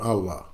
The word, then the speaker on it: Allah: A E I repeat whenever a e or CRA come before Allah the sound becomes flat on Allah another example we don't